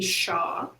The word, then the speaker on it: Hsia: just go by but shaw is pronounced the s-h-a-w as you can see the spelling is a little confusing but it's pronounced sha sha cool and um what